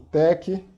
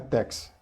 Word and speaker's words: TeX: Então, daí nasceu o tech. Lembrando, a pronúncia é tech, não é tex.